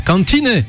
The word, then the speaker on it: Kantine: Le 23 mai ce sera au Columbia Theater de Berlin et ensuite à la Kantine de Cologne. Die Kantine, et j'y peux rien, ça se prononce comme ça, je dis voilà.